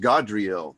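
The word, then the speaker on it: Gadreel: that interesting it's pronounced godreal god is um yeah i know it's g-a-d but it's it's when you go look at that phonetically how it's pronounced it's god it's a ah sound it's not act it's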